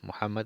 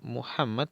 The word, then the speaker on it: Muhammad: Muhammad es el mensajero de Allah.